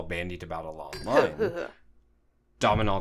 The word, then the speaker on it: Domhnall: about a lot more Domino Gleason so you say his name domhnall gleeson yeah cuz he could be